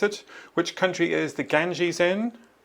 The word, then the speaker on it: Ganges: And the river's name is the Ganges. That's how you pronounce it. Which country is the Ganges in?